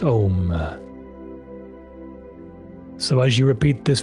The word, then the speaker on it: Om: or either out loud, Om, spelled A U M and pronounced Om.